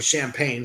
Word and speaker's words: Champagne: His successor, Count Henry of Champagne, or Champagne, some pronounce, the nephew of King Richard, the Lion-Hearted, was approached by the assassins to negotiate an accord.